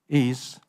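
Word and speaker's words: 愛: I want to bring is what does AI mean for you I is Chinese word for love in Chinese this word is pronounced I in s AI is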